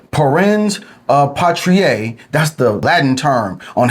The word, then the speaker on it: parens patriae: Pence patriier is the correct pronunciation.